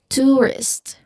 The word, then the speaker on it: tourist: Now, the common mistake here is that learners, you know, English learners might simplify um the less common dip thong. Here there's a dip thong too in the first syllable. U there's a thong there. So it um they they they try to simplify the less common dip thong to a more familiar familiar vowel sound.